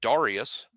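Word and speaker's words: Dareus: There was a guy in Alabama recently, and everybody had been mispronouncing his name all across the board. And when he graduated, he was like, "That's not how you say my name." Marcel Darius. Who was it? Was it Marcel Darius? Marcel Darius wanted everybody to pronounce it Darius.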